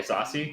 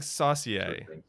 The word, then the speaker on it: Saucier: people people you can you can just call me sassy my last name is okay though i've been saying saucy but it's